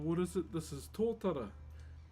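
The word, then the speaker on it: totara: This is Tora. T O T A R A is how you spell it.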